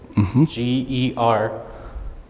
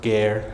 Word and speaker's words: ger: call it a gear g-e-r pronounced gear not ger that's wrong um this was right